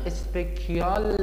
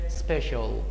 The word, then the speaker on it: special: بچه‌ها تلفظ واژه اسپشیال اینو اسپکیال یا اسپشیال یا امثال اینا نخونید، چون من مخصوصا اسپشیال رو زیاد از بچه‌ها میشنوم. تلفظش میشه اسپشیال.